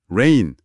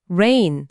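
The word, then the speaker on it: reign: 발음이 똑같은 단어가 있거든요. r i gn. 레인 레인 아, 그건 통치하다 아닌가요?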